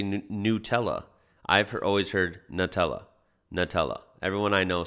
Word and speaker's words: Nutella: says nutella that's weird i would pronounce this nutella like it's new nutella here in australia they pronounce it nutella like a nut that's crazy nutella not nutella number six is the